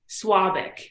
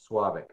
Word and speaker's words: Svabik: Svabik. So the V is pronounced like a W. Svabik.